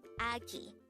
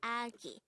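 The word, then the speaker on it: 아기: The Korean term for a baby or a young person is agi. Again, it's agi. This is pronounced as a two-syllable word. The first syllable is a, and the second syllable is ki.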